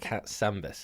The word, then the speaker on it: Katsambis: Okay, Erica Katsambis. Have I pronounced that right?